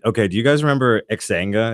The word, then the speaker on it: Xanga: Dude, we had, okay, do you guys remember Xanga? Is that how you pronounce it? Zanga. Zanga. Yeah, I'm stupid.